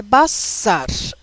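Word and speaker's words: בשר: A palavra é Bassar. B-S-R. E esses dois sinaizinhos aqui embaixo significam que você deve pronunciar A.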